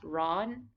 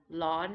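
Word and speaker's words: ร้อน: the whole time lawn this is also written with an r but commonly pronounced with an l or a slightly rolled are broad hot as in temperature so you might hear ron ron or lon it's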